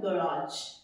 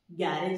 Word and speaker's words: garage: इसमें कोई ए ओ नहीं लगेगा, ये सीधा है garage. How do we pronounce it as? My car is parked in garage, गैरेज नहीं, ठीक है।